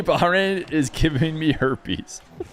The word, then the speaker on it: Bahrain: say the name the name of this country in Arabic it is usually pronounced as bahin baharin I was actually maybe